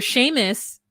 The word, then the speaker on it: Seamus: isles um culture that where sheamus is looks like seamus but it's sh as well so it is just